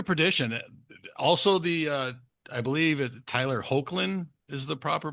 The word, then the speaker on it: Hoechlin: So Road to Perdition, also I believe Tyler Hoechlin is the proper pronunciation.